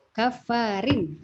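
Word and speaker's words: كافرين: Kafarin, rin tipis. Nah, tipis ya. Kafarin atim, ya dia tipis karena dia kasroh ya masuknya.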